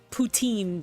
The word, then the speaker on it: poutine: Wait, poutine isn't that thing you can get with like the cheese. Ah, as Puta is Spanish. All right. Yeah, I know pa. No, no, that's um poutine, Dylan.